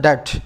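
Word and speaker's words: debt: देखो ये वर्ड होता है डेट, इसमें बी साइलेंट होता है।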